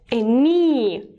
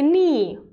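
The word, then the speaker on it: knee: then lower body leg me we don't pronounce the first letter K a me an ankle a tail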